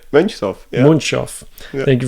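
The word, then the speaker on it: Mönchshof: Monshoff.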